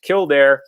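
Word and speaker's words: Kildare: for doing that it was St Bridget of kildair or Kor depending on the various translations you find but usually pronounced kildair and St Bridget is an interesting individual because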